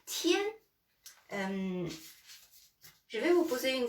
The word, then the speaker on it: 天: Donc, ce caractère-là, c'est tien, le ciel. Tien, voilà. Tien, voilà. Tien. Tien, je vais vous poser une question.